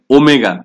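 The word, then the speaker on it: omega: এটা প্রথমবারের মতো আমি লিখে দিলাম, কারণ হচ্ছে আমি সবসময় এটা উচ্চারণ করার সময় ওমেগা বলবো, কেউ কিন্তু ডব্লিউ উচ্চারণ করবে না, এটা ওমেগা।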